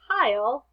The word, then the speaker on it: pile: sounds and pile pile right now it says pill but in order to say pile we need that silent e at the end a pile their fingers